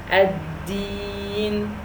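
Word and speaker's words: الدين: Ya means 2 times the kasra in the pronunciation, so I elongated 2 times, and the kasra is 1 time, so that's 3 times. Ad-din, ad-din.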